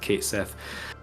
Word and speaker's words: Cait Sith: that I'd had a conversation with i' always pronounced Kate Sith um so it was really only after the